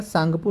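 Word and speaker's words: Tsangpo: हैं तो ध्यान रखिएगा सांगपो नदी कहते हैं सांगपो कहते हैं टी साइलेंट है यहां पर तो सांगपो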